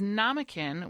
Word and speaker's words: Namakan: some really fun stuff it is namkin which Rhymes namkin which rhymes with mannequin um namkin fur and